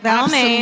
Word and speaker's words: Balmain: Balmain. Absolutely. You mean exactly how it's spelled?